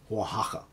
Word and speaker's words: Oaxaca: found out uh yeah in mexican or spanish that's how you're supposed to pronounce it oaxaca i hope i'm doing a decent job i'm not sure because in italian we actually don't have the h sound but i'm trying here